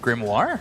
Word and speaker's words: grimoire: orir this is a very difficult word to pronounce grimoire yeah okay like the word though three Heroes